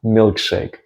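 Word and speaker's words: милкшейк: And in Russian you say milkshake.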